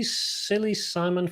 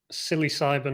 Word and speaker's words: psilocybin: It's a play on psi sound and the fact that psilocybin or whatever it's called sounds like, in pronunciation, it has a P at the front, but it's pronounced S.